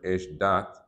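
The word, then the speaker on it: אשדת: What's interesting, if you notice on that word esh dat, in the Torah it's spelled one word, esh dat, but we actually pronounce it two words.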